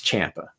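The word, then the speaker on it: Ciampa: and by the way it is Tim also Champa Champa okay everyone pronounces it wrong but I remember a long time ago years ago he had put on his social media somewhere like a correct pronunciation of his name so it's Champa so just so everyone out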